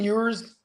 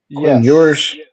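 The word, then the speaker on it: Ewers: Is it yours or how do you say that? Quinn yours. Yours sounds like a like like a foreign beer, huh?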